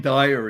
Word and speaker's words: Dyer: how you spell it let's say if you spelled it d-i-r-e the higher it sounds dire d-y-e-r so dying means